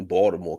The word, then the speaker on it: Baltimore: Oh, Baltimore. Excuse me, Baltimore, because the T is silent.